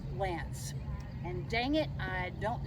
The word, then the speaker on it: LAANC: a program that's called LANC. And dang it, I don't know what it stands for. It's LAANC, pronounced LANC.